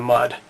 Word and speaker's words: Mudd: The reason it's called mud folder is, I guess, like metaphorically speaking, it can be used in the mud, even though it's spelled M-U-D-D, mud.